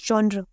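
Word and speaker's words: genre: Comedy of humour जॉनर, जॉनर ये वाला, just in case, क्योंकि इसकी प्रोनाउंसिएशन काफ़ी लोग अलग अलग बोलते हैं, कोई कुछ बोलता है कोई कुछ, तो मैंने लिख दिया जॉनर।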